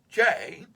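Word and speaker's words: Jai: Jay, pronounced Jay, had always been my cheerleader.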